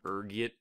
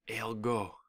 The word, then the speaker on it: ergot: There's a few different ways you can pronounce it, depending on your social standing, ranging from ergit to elgo. Being the disheveled pauper I am, I prefer ergot.